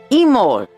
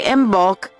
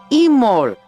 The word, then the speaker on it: Imbolc: word, it would be Imol. The B is silent. So you wouldn't say Imbolc, and it wouldn't be in, it would be Imol. Imol.